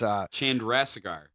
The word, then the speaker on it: Chandrasekhar: It's an Indian name. It's Chandrasekhar. yeah, pretty close.